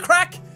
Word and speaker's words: craic: Having the crack? How's the crack? Where's the crack? Cane scale? That's, again, advanced. But how's the crack just means, how are you, or what's happening? And it's spelled crack, C-R-A-I-C. You see what I mean?